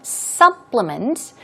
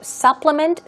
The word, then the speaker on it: supplement: Here we have the word in the verb form, supplement. It's exactly pronounced the same way, even when it is used in the noun form. So supplement, supplement, verb and noun.